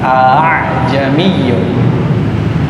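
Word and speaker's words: أأعجمي: Supaya mudah bacanya menjadi dua hamzah dijadikan 1, jadinya a. Kayak apa ya? Pakai cengkok, seperti kita pakai cengkok. A'jamiyun. Jadi bukan a'jamiyun, berubah menjadi a'jamiyun.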